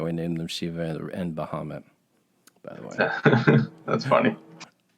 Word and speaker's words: Bahamut: ago but bahamut or bahamut is how you pronounce it in arabic is from mythology well